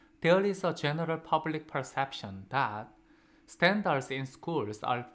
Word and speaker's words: perception: 자, 1번 perception. 자, 지난 시간에 저희가 perceive라는 지각하다, 무엇을 지각하다, 인지하다, 보다라는 동사에서 끝났습니다. 그거의 명사형 perceive라는 단어의 명사형인 perception, second syllable에 강세 있고요.